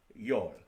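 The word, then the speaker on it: 열: And then 10 is yol, and that's pronounced yol.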